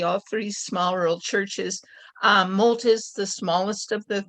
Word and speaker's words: Molt: from Congregational Church in Malt. Am I pronouncing that right? Molt, just like the ducks do.